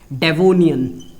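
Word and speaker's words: Devonian: ठीक है, प्रोनाउंसिएशन सही कर रहा हूं मैं, बिल्कुल सही कर रहा हूं, डेवोनियन।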